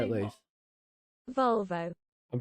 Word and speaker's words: Volvo: You pronounce it Volvo. Volvo. Volvo. Nah, it's Volvo, mate.